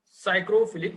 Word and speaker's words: psychrophilic: Okay, here P is silent, friends. Psychrophilic bacteria.